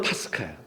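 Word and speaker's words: πάσχα: 유월절을 제가 페사오라 그랬죠. 페사오. 근데 헬라오로는 파스카야. 히브리어로 페사오인데 예수님 당시 때는 언어가 아라모예요. 아라머는 파스하라 그래요. 파스하. 그래서 파스하를 적다 보니까 이게 파스카 이렇게 이제 발음을 하게 된단 말이죠.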